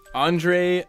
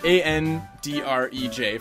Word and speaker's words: Andrej: Andre Meszaros.